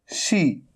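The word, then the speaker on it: she: है यह है शी कई स्टूडेंट क्या करते हैं इसको और इसको एक जैसा प्रोनाउंस करते हैं सी यह सीटी वाला सी है सरिता वाला स है स सी यह आवाज आ रही है और यह है ऊपर की तरफ जीभ ऊपर की तरफ तो ये आपको ध्यान रखना है इसे बोलना है आपको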